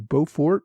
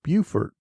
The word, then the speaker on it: Beaufort: I referred to Beaufort on Port Royal in South Carolina. Alan Rosenfeld pointed out that it is pronounced Beaufort.